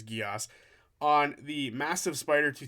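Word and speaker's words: Geas: They were saying Gaius, but I'm pretty sure it's Geos, on the massive spider to take out its mother.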